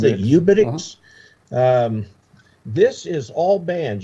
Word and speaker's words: uBITX: How do you pronounce it? UBITX?